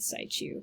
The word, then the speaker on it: situ: in situ, which again, I've been saying situ, in situ, but I listened to an absolute expert on this for 4 hours and she said situ.